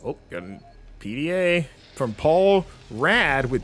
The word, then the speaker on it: Paul Rad: Paul Rad, Chief Technical Officer for the Oh, that is how you pronounce it too.